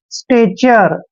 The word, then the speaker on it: stature: और टी का उच्चारण टे करेंगे, ए को ए की मात्रा लिखेंगे और TURE का उच्चारण चर करते हैं। स्टेचर, स्टेचर मीन्स होता है एक तरह से आकार, रंग रूप आकार, ठीक है ना, स्टेचर, क्लियर।